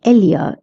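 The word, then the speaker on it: ella: The pronunciation of Elia is Elia or a also Spain like to pronounce their two L's as Leah whereas Latin America like to pronounce them as Y.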